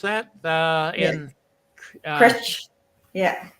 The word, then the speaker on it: Cruit: Is that how you pronounce that? In Critch. Yeah. Critch, okay.